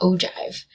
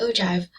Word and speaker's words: ogive: frequency graph or the ogive so it's spelled kind of funny it looks like ogive but it's actually ogive so on our y-axis